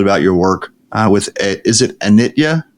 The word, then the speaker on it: Anitya: a little bit about your work is it Anitya? How do you pronounce it? Yeah, that's perfect. Anitya Doula Services. Anitya, I named my practice Anitya because it's Sanskrit and it means impermanence.